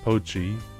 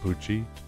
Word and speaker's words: Pochi: FYI, it's pronounced Lucky Poochie. Pochi. Okay. Not Poochie. I kind of read it as like the JoJo villain name. That's why I thought it was Poochie.